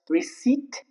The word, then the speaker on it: receipt: For example, receipt. That's not receipt. Receipt. It's just receipt. There is no hint of P.